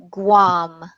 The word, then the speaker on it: Guam: 111 hmm make your make your g more of a GU sound guam 111 so what I